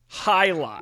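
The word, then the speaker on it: jai alai: How do you spell it? It's Jai A-L-A-I. Jai-lai.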